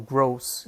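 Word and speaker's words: groß: you use that to remember that grows with a long o big Gardens are gross yeah or gross I think you pronounce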